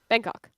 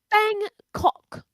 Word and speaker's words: Bangkok: big city of Bangkok I don't like when the British people say it as like two distinct syllables come homie thanks for